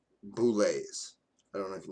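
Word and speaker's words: bulette: Example is like boulets. I don't know if you know that. That's pronounced bullet. It's spelled bullet, but it's pronounced boulet, right?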